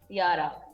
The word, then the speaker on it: Yara: good afternoon and welcome to good afternoon did i get a pronunciation of your name correctly yara yara yarasola yes i got it almost got